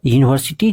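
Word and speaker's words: university: लेकिन यहां पर यूनिवर्सिटी जो है इसका जब आप उच्चारण कीजिएगा तो इसका जो उच्चारण करेंगे ना तो यह इसका उच्चारण कंसोनेंट की तरह होता है।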